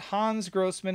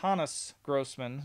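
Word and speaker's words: Hannes Grossmann: i've been corrected too it is not hans grossman it's hannus grossman it's the way you pronounce it um i've talked to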